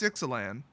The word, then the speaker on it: Ixalan: a LAN or exelon it's exelon but I'm pretty darn sure that the Aztecs and Mayans did not use the Latin pronunciation for vowels so guess what it's excellen so this particular chapter